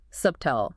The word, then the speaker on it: subtle: The B is completely silent. The mistake is pronouncing it. S-U-B-T-T-L, subtle. Right. The correct pronunciation is just est-L. Like subtle. No B sound at all.